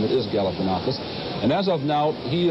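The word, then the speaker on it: Galifianakis: the campaign was to teach voters how to pronounce his name it is galanakis and as of now he is leading Jesse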